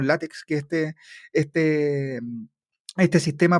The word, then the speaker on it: LaTeX: mi apunte en en látex o latex no sé cómo Cómo se pronuncia bien pero acá le decimos látex que este este este